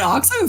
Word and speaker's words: OXO: like two seconds because I never knew how to pronounce that. I just called it XOX. I don't take me as the authority like that. I will always call it OXO from now on.